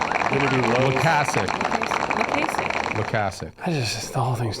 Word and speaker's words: Loykasek: We have Cory Loykasek. Did I pronounce that properly?